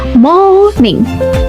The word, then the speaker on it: morning: Nah, bahkan di sini R-nya itu ada tapi tidak dianggap sakit sekali. Dia keberadaannya ada tapi tidak dianggap atau tidak dibaca ya. Buktinya di sini di sini tidak ada huruf R-nya. Oke. So, how to say it? Bagaimana cara membacanya? Cara membacanya adalah morning. Morning.